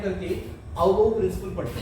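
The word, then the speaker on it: Aufbau: एक होगा ऑफ बोह principal, इसको F साइलेंट करके पढ़ते हैं, F is silent here, of बोह मत बोल देना, इसको क्या बोलेंगे, ऑफ बोह प्रिंसिपल।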